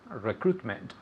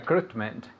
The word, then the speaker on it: recruitment: So don't pay any attention to that I. It's almost completely silent.